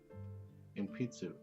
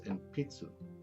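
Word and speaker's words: 鉛筆: But it's enpitsu. Enpitsu.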